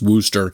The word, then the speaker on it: Worcester: All right, our number four pick is Worooster, Massachusetts. Yes, it's Worooster, not pronounced how it's spelled, but Worooster, Massachusetts.